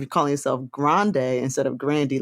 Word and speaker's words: Grande: when she said that her last name was ashley actually pronounced grandy mm-hmm yes and then